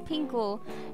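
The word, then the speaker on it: 苹果: apple or apple dishes Apple in Chinese is pronounced as pinko which means safety so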